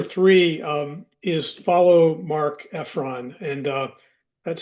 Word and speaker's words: Efron: Tip number three um is follow Mark Efron and uh that's spelled E FF R O N.